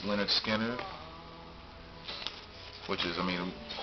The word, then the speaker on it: Lynyrd Skynyrd: Pronounced Lynyrd Skynyrd, which is, I mean, of course, all Lynyrd Skynyrd albums are good albums.